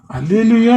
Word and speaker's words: அல்லேலூயே: ஆங்கில வேதாகமத்தில் உள்ள அந்த அல்லேலூயே என்ற சொல்லை சுட்டிக்காட்டி அல்லேலூயா என்பது மொழிபெயர்ப்பாளர்களின் தவறு என்பதை விளக்கினேன். இந்த வீடியோவில் இந்த சாத்தானின் அல்லேலூயா சதியை பற்றி விரிவாக பார்க்கலாம். அல்லேலூயே என்று சொல்லும் அல்லேலூயா என்று சொல்லும் ஒரே உச்சரிப்பும் உடையவை அல்ல ஒரே அர்த்தத்தையும் உடையவை அல்ல